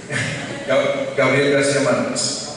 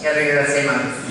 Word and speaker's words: Gabriel García Márquez: Gabriel García Márquez. Gabriel García Márquez.